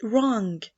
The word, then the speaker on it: wrong: This question is wrong. Excellent. The W in wrong.